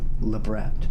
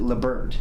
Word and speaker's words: labret: do too inverse vertical labret yeah it's a mouthful we don't pronounce it Lambert do we zero howdy from